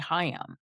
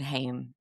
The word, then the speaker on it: Haim: it's actually I think it's actually supposed to be Hayam because it's the word is Hayam, like l'chaim. It's Hmm. it means life.